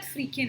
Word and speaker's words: firkin: Word की pronunciation होगी फ्रीकिन. मुझे लगा शायद फ्रीकिन है. But then let me tell you, इस वर्ड की प्रोनाउंसिएशन है फर्किन. द प्रोनाउंसिएशन इज फर्किन.